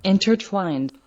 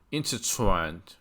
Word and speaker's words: intertwined: intertwined， intertwined，读的特别明显，这个重音在 twine 的就是第二个音节上 intertwined。